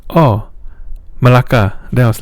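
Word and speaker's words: Melaka: Then she's like, "Oh, because in Malaysia it's spelled M E L A K." So Malaka, right?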